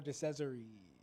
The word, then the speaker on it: DeCesare: Phil DeCesare. Yeah, rhymes with treasury.